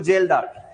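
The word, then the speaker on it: Kjeldahl: यूज़ करते हैं तो जेलदार यहां पर के जो है वो साइलेंट है रिएजेंट जो है यहां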